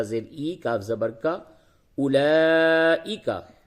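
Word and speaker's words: أولئك: قرآن میں جس جگہ پہ بھی اولائکا آوے وہاں پہ واو نہیں پڑھتے. لکھنے میں آتا ہے یہ رسم الخط ہے عرب کا طریقہ ہے عربی وہ اس طرح سے لکھتے ہیں لیکن اولائکا پڑھا جائے گا.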